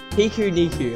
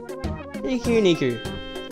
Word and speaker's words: Pikuniku: I don't even know how to say the thing yet. Pikuniku, I'm pretty sure. Pikuniku.